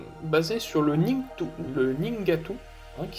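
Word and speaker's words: Nheengatu: euh les langues basé sur le Ning le ningatu hein qui s'écrit NH h e e n G a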